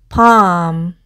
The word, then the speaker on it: palm: 그리고 마지막 단어 arm, palm 이라고 읽으시면 되고 손바닥이라는 뜻인데요.